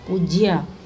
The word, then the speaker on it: पूज्य: पूज्य, पूज्य, ऊ की मात्रा छोटी नहीं होती, बड़ी ऊ की मात्रा।